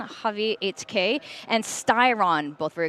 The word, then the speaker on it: Javi: That is the official pronunciation. Javi 8K and Styron, both very experienced, both very interesting play styles and IGL styles.